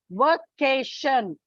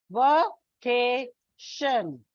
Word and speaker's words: vacation: Like take, for example, vacation. Vacation. It's a trisyllabic word. Vacation. So from the end, second syllable.